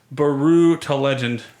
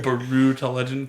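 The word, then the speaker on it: Brütal: Baru to Legend. I pronounce it like Yahtzee does on the Escapist with the double dots over the U. Baru to Legend, because there's 2 dots.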